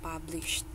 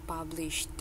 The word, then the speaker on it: published: Yang jadi dibacanya itu jadi kayak published. Diulang? Iya, published. Iya, D-nya itu huruf belakangnya harus ada, jadi bukan publish gitu loh.